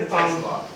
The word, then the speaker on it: Tesla: Tesla. Oh, Tesla. Did I say Tesla? Did I say Telsa?